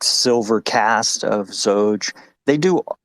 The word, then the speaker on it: Xoge: at any rate um the original pronunciation would be zoge where the x sounds like a z but uh i kind